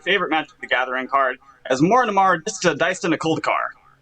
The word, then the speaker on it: Asmoranomardicadaistinaculdacar: magic the gathering card as more and more diced in a cold car that's how you say it wow that was a